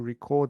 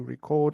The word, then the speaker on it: record: Record, to record something is like a verb form of it. So the pronunciation is a little different. To record and record. Then certified, officially recognized as having or meeting certain qualifications, standards, etc.